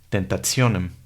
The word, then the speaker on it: tentationem: Y una letra T seguida por una I más la A, E, O la U tienen un sonido complejo, que es el sonido de una TS. Entonces leemos tentationem.